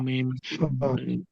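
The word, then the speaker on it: م: ওয়াও, ওয়াও, ওয়াও, ওয়াও, বা, বা, বা, বা, বা, বা, মিম, মিম, বা, মিম, মিম, তাহলে ওয়াও, ও, ওয়াও, বা, বা, বা, বা, মিম, মিম, মিম, জি।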